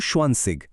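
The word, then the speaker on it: zwanzig: 20 হলো সোয়ানসিগ, 30 হলো ড্রাইসিগ, 40 ফিয়াটসিগ, আর এভাবেই একদম 90 বা নয়নসিগ পর্যন্ত গঠিত হয়েছে।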